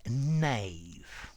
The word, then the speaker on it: knave: hi there students a Nave Nave beginning with K but the K is silent okay this is a